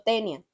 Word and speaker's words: Taenia: Yo digo tenia, pero se escribe taenia.